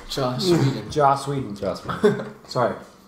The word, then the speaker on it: Joss Whedon: Because I couldn't say Joss Whedon, so Yeah.